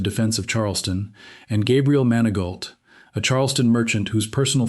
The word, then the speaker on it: Manigault: Manigault lands closer to Manigo than to anything a French speaker would produce from those same letters.